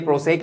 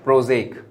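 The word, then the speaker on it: Prozac: तो एस लिखा है ऐसा लगता है प्रोसेक लिखा है लेकिन य प्रोसेक नहीं है इसको पढ़ते हैं जैसे कि यह जा का जैसे की जड हो तो उसको पढ़ेंगे प्रोजेक स्पेलिंग य है क्या पढ़ेंगे प्रोजेक पढ़ेंगे अब अगर आपको याद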